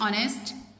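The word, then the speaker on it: honest: अब अगेन देखें एच है तो कॉन्सोनेंट लेटर, लेकिन यहाँ पे स्पेलिंग में तो लिखा जा रहा है, लेकिन प्रोनाउंस करते वक्त हम इसको प्रोनाउंस नहीं कर रहे हैं, तो इसमें वोवल साउंड आएगी।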